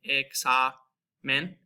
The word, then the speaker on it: examen: So you have the A in car, like examen, and that's that KS sound with the X there.